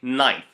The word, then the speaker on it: knife: beginning of a word don't pronounce the k if you have the word K knife never say k knife you say knife the second rule is